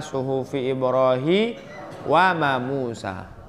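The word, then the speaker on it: صُحُفِ إِبْرَاهِيمَ وَمُوسَىٰ: Musa Coba aja Hai ah salah bacanya tuh soft Ibrohim mah bukan wamusa eh ane balik tuh suhuf Ibrahim Ba Itu sebenarnya survei Rohimah itu betul tapi dibaca terbalik suhufi ibrahima wa Musa bukan Mawa Musa tapi wamusa salah Hai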